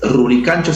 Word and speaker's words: Rurigancho: Rurigancho se puede decir es un quechua más cusqueño de la sierra, tal como pronunciaban los incas, mientras que Lurigancho provendría de la misma gente que vivió en esas tierras.